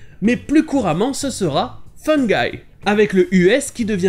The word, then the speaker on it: fungi: Et fungi, ça se prononce de la même manière que les deux mots fun guy, un gars marrant, une personne fun.